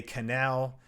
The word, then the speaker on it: Cannell: is uh at Sean Cannell uh a lot of people say canal whatever it's all good uh I'll show it